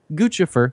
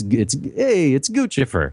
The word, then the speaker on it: Guccifer: It's got two C's. The Italian in me says it's Guccifer.